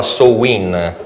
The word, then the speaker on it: Samhain: estate cioè summers end inizialmente si chiamava samhain questo è dicono la pronuncia seconda dizionario gaelico più diffuso e alla festa